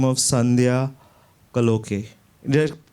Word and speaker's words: Kaloke: Okay, first, I forgot to thank a lady by the name of Sandhya Kaloke. Did I pronounce it correctly? Kaloke, yes.